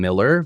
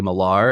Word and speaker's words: Millar: on a list, I tell them Miller, because there's so much more quickly able to find my name. If I say Miller, then if I say Millar, and then they say, how do you spell that?